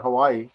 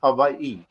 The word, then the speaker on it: Hawaii: for the question first of all it's not Hawaii it's Hawaii so we pronounce it wrong okay well I never knew